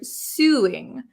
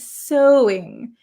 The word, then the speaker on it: sewing: uh I have a friend from France she pronounces this word suing but that is not how we pronounce it in English right Sue actually this is pronounced so so it's very uh very strange spelling right sewing sewing I have a knack for sewing so